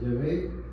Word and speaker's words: Yahvé: Yahé. Se pronuncia Yahvé.